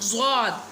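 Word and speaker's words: ضاد: अब ज़्वाद, ज़्वाद, ज़्वाद, ठीक है। Pronounce from the sides of the tongue touching the roots of the upper molars top back teeth, ठीक है।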